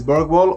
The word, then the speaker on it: Bergwall: My name is BERGWALL, or Bergwall as it's pronounced in Sweden, and today we're going to focus on one of the first techniques ever developed by DJs ages ago.